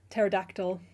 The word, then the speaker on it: pterodactyl: Pterodactyl is another one that's nearly impossible to pronounce.